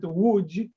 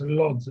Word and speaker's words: Łódź: Well, we pronounce it Łódź. It means boat, ship. So that's a funny name, but without all those commas on top, which are typically Polish letters, internationally it's pronounced just Lodz, L-O-D-Z, Lodz.